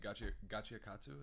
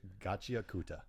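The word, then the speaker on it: Gachiakuta: And Gachi Akatsu is how you say it? Gachi Akuta.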